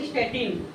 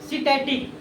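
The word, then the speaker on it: satiety: इसको क्या बोलते हैं, स्टैटिन, सिटैटिक, नॉट स्टैटिन, सिटैटिक। देखिएगा सिटैटिक, देख लीजिए स्पेलिंग, सिटैटिक सेंटर होता है, ठीक है ना।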